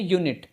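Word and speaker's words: unit: अगला word you से start हो रहा है लेकिन इसका प्रोनाउंसिएशन है यूनिट, मतलब या मतलब व्यंजन, इसलिए इसके पहले आएगा ए।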